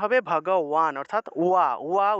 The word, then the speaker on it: ভগবান: ঠিক আছে, তাহলে ভগবান যেহেতু, তাহলে ভগবান শব্দের সংস্কৃত উচ্চারণ হবে ভগওয়ান, অর্থাৎ ওয়া ওয়া উচ্চারণটা আসবে, কারণ এখানে আকার আছে।